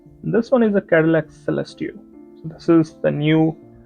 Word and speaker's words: Celestiq: It's a Cadillac Celestiq, not Celestia. I think I kind of mispronounced it. Didn't see the Q.